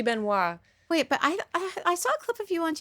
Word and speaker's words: Benoist: tell me for sure I think you pronounce it Ben was right Benoist Beno it should be Beno wait but I I